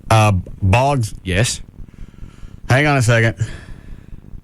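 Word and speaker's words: Boggs: Is his last name Hog? No, but it rhymes with that. And you have to add an S. Uh, Bogs.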